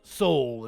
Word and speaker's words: Sowell: Sowell is how you say your name.